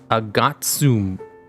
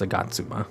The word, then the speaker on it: Agatsuma: Agatsum. No. Is it Agatsuma? Or Agatsum? Yeah, it's Agatsuma.